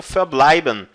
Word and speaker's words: verbleiben: eu usaria o verbo verbleiben. Verbleiben, permanecer, tá? Verbleiben, verbleiben. Lembrando que a letra V no alemão tem som de F.